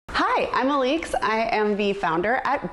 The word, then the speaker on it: Alix: Liz asked what the proper way to pronounce my name is, and Henry knows that it's Alix.